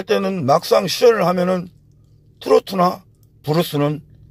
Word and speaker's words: 트로트: 지루박은 디스코로 추는 거고, 트로트는 트로트 음악, 트로트를 도로또라고 하는 사람도 있는데 도로또가 아닙니다. 트로트를 일본식 발음으로 도로또라고 그러는 겁니다.